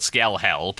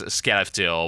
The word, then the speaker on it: Skellefteå: can never actually pronounce, they call it Skelhäll, but that's not exactly fair. It's Skellefteå or whatever the hell it's called.